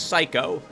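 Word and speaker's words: Saiko: The girl's name is Psycho.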